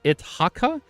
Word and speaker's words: Itaka: 27th September, I saw Miss It, how do you pronounce his name? Miss it t a ca Miss Itaka.